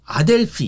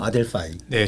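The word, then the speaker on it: Adelphi: 고원입니다 반갑습니다 이제 아델피 이거 아델피 맞아요 아델 아델파이 아델피 뭐예요 아델파이네 실제 발음은 아델파이 아고 합니다 제가 그래가지고 구글에 찾아봤어요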